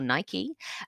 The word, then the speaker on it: Nike: Okay, the loyalty consumers have for brands such as Adidas or Adidas, depending on how you pronounce it, and Nike or Nike, make this industry highly contestable, one with high sunk costs, horizontally integrated, or perfectly competitive.